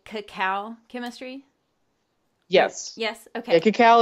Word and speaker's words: cacao: me am I saying it right to say cacao chemistry yes yes okay cacao is the Latin